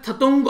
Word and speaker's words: Thatung: तो इसको जो भी प्रोनाउंस करे देख लीजिएगा, वैसे तो इसको शायद थतुंग आप लोग बोल सकते हैं, THATUNG, ठीक है।